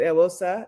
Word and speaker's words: Eghosa: Um, the pronunciation when my Nigerian family says it is a little bit different. ISAsa is kind of the easiest way to uh explain, but a lot of folks pronounce it aosa.